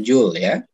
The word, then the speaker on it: Joule: biolistrik adalah oblong bisanya Joule ya bacanya julya Apa itu hukum Joule